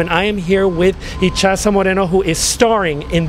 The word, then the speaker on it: Itxaso: And that's a Basque name. It's pronounced Itxaso.